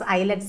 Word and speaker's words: islets: Here is silent. Okay, so have to pronounce islets of Langerhans.